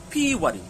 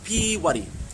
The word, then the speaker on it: Pīwari: And that word is Pīwari. Okay, Pīwari, it's actually got a macron on the first I. Okay, so we're looking for a long I sound.